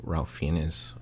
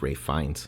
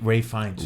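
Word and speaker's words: Ralph Fiennes: I mean, we actually before we started doing the podcast, we found out that uh Ralph Ralph Fenz is actually pronounced Ray Fines. Ray Ray Fines. Ray Fines.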